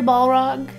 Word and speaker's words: Balrog: Corey Balrog favorited one of my tweets today, so I'm famous.